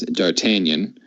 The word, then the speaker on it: D'Artagnan: And the last of the four is D'Artagnan. I do know that is the correct pronunciation.